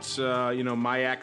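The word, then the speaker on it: MIAX: Check it out, MyAX Spikes. Just type that in, MyAX, M-I-A-X, and Spikes. Just spelled like you think it is, into your search engine, and you'll get taken to that.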